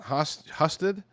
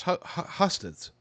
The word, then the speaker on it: Husted: Brown's appeal to blue-collar Ohio is real, and his name recognition dwarfs Husted's. Sorry, having difficulty with that name. It doesn't look like it should be pronounced like that, but it is.